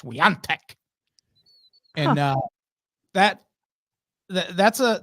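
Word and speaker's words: Świątek: it's there she inexplicably her last name is pronounced with an N it's like Phantom n yeah even though it's spelled s w a t k but that is pronounced Sant and uh that that's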